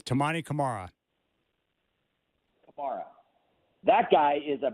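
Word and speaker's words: Camara: fun to watch um camra how did you pronounce it is it cerra or Kamar it's tamman Kamara Kamar that guy is a baby Pippen Pippen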